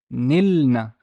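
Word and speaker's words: نِلْنَ: This one looks funny, but the noon has a kasra, the lam has a sukun, and the final noon has a fatha. How would I pronounce this? This is nilna, nilna, nilna, nilna.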